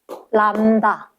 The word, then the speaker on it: 람다: 요거를 뭐라고 읽을 거냐면, 람다. 람다. 들립자처럼 쓰면서 람다라고 읽을 거고, 파장이 돼.